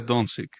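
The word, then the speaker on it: Dončić: Also, you have the X Factor called Luca Donsich or Luca Donsik as some Americans say.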